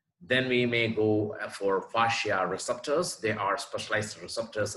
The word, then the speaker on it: fascia: a curry on exactly how to pronounce parsha so it is fasciae fasciae fasciae our next section will